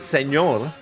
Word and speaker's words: señor: I mean, I suppose the idea is to pronounce it señor. But you know, that's a letter in the Spanish alphabet. As we call it, ñ, which is like N with a little thing on top.